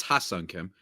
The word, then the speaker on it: Ha-Seong Kim: Firstly, I want to just say before the Padres fans get mad at me and potentially you, it's Ha-Seong Kim, just to pronounce it correctly.